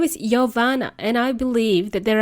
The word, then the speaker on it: Jovana: but let's try this it is yoana and uh I usually joke with my um peers about how to pronounce my name and it's something that you can easily remember you know time when maybe uh when you ask somebody for a coffee you would say yoana coffee that's how pronounce that's